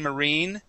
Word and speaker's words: marine: okay sometimes as well the I like machine Marine okay make that e sound as well okay so